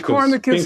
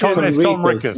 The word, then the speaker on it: Conricus: Copernicus asks the question. Mr. Copernicus asks the question. It's Conricus. Why should we? It's Conricus. The N is before the R.